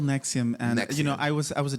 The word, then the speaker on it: NXIVM: I can't even pronounce it. NXIVM. Yes, it's called NXIVM.